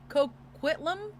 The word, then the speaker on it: Coquitlam: So, Robert William Pickton was born to Leonard and Louise Pickton, a family of pig farmers in Port Coquitlam.